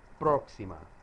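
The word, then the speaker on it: próxima: day after tomorrow la proxima semana next week now watch your pronunciation of the word proxima notice that there is an accent mark on the o proxima mass vocabulary now this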